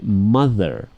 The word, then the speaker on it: mother: much mother and father actually use the Thunder is voiceless thunder thunder voiced will be like mother or father ok sadder that's that's